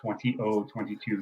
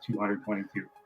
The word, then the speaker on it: 20022: long time, and yes, it is pronounced 20022, not 222.